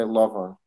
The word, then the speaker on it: Laban: in the scripture with Laban, right? That his uncle, is that how you say it, Laban? In Hebrew, you say Lavan.